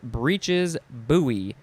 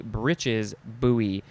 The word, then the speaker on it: breeches buoy: The last one is breeches buoy. Could also just be breeches buoy.